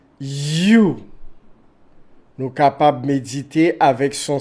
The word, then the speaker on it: Hu: l'univers des multivers you s'écrit H u mais se prononce you nous capable chanter l